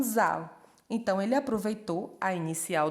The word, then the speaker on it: Zahl: Lá na Alemanha, número se pronuncia como Zahl.